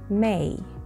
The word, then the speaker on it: May: شهر May. May. مقطع واحد فقط أو مقطع لفظي واحد، ولكن علينا أن نمد الـ A قليلا. أوكي؟ So it's May. May. وليس مه.